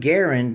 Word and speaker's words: Garand: Canada and uh John Garand now his last name has two RS g a r r a n d right it's basically Grand with an extra R and uh so basically it's M1 Garand is is what this